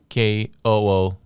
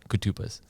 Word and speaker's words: Koutoupas: So if you think of it in terms of Koutoupas, so that's how you kind of pronounce it, Koutoupas. So it's common spelling. Rhymes with snuffleupagus. Yeah, I struggle with your last name.